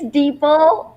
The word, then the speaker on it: Deeple: It's Deeple, just Deeple. like people. Like people.